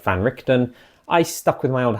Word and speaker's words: van Richten: seen my ear videos I used to pronounce Van richon that's kind of a carryover from an old DM I had who dm'd krad for me that's how he thought it was pronounced so that's how I